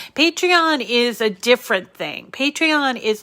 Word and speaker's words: Patreon: scratchy throat today so it's spelled p-a-t-r-e-o-n patrion patreon i guess it's supposed to be a play on the word a patron a patron is somebody